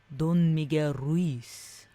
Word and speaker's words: Don Miguel Ruiz: You have to say Don Miguel Ruiz. Don Miguel Ruiz.